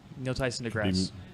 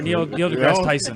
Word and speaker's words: Neil deGrasse Tyson: Neil Tyson deGrasse. Yeah. Oh, wow. Did I say it right? Or Neil deGrasse Tyson? No, it's deGrasse Tyson.